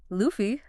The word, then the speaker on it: lufu: of modern English and lufu l u fu pronounced luffy w and water w a t